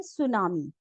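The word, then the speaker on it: tsunami: word हमारा आता है सुनामी ये टी से स्टार्ट होता है लेकिन हम उसको बोलते हैं सुनामी सुनामी क्या होता है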